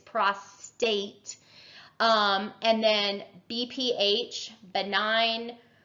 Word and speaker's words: prostate: to an enlarged prostate it's not prostrate within our folks it's prostate um and then BPH